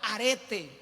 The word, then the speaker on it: arete: virtud en el original es la palabra arete tal cual así se escribe arete como un arete y ese esa palabra